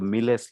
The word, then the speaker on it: MILES: And it's not Miles, they pronounce it Miles because this is from a Spanish group, Miles Library of Stellar Spectra.